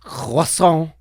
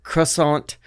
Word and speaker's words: croissant: In America, hey, hello Americans, it's pronounced croissant, not croissant.